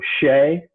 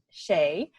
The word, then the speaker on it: Hsieh: but it's very pronounced although even people can spell that wrong and stick an e on the end of it so shay that's right matt well thank you first of